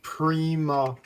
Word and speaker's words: Prima: It's spelled P R I M A on the box. So that's Prima. And that that's feminine uh meaning of first. So that's what he was. If it was spelled P R uh Y- MA, then you got your uh your primer. But it's not. It's spelled for prima.